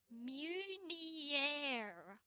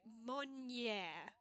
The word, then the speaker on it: Meunier: In English, it's typically pronounced Meunier in the UK or Meunier in US. The French pronunciation is closer to Monnier, where the emphasis is on the second syllable.